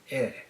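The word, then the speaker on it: へ: Unlike the last ones, the rules here are very clear. When denoting a subject in a sentence, ha is pronounced wa. When denoting a destination, he is pronounced e.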